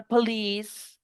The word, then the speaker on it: police: Profe, pero es que esa palabra police, eso no está aquí apuntado, vea, no, no, es porque es una excepción. La palabra police es una I normal, pero se pronuncia I larga por excepción.